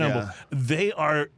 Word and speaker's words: Humble: But when you're around here, you don't pronounce the H for whatever reason.